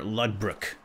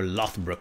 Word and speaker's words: Lothbrok: Ragnar Lodbrok. Or Lothbrok, depending on how you say it.